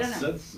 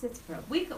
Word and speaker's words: Sitzprobe: Oh, it's not sitz. What is it? It's Sitzprobe. Well, Americans say Sitzprobe or Sitzprobe, but it's German, and he quizzes them about what it means.